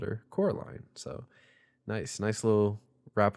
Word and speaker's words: Coraline: also that was the first time W actually pronounced her name properly and called her Coraline so nice nice little wrap up on that